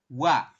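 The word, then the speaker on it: 와: a nah seperti ini kita bacanya bukan oa ya tapi kita Bacanya adalah langsung wa ya Jadi kalimatnya itu bunyinya adalah wa kayak gitu Bisa ya bisa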